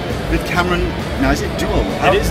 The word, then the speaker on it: Deuel: Now, is it Dueul? It is Dueul. You pronounced it right.